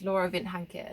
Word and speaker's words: Laura Vind Hanke: lot about my story how you pronounce my name is Laura Vint hanka it's actually Danish in half Swiss as well and very exotic and